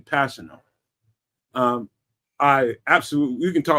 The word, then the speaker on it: Kpassagnon: That's how you pronounce his name, Kpassagnon.